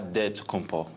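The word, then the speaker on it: Antetokounmpo: to say with a D so it's a dead compo but in the Greek way you say with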